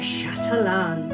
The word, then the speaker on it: chatelaine: So today we're going to talk about this beautiful item that was called a chatain or probably pronounced a chatalan.